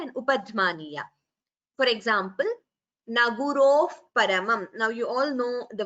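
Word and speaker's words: न गुरोः परम्: You don't chant it as Naguroho Paramam. While chanting together, we chant it as Naguroh Paramam. So Upadhmaniya is you expel the air and immediately close your lips.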